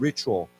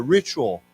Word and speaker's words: ritual: Now, of course, when we say this word, the T has a ch sound to it, CH sound, ritual. Okay, so why don't we say together, ritual, ritual.